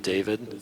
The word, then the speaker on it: D4VD: There's a new artist called David, but it's spelled D4VD.